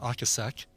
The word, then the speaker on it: Ocasek: I think it's actually pronounced Ocasek.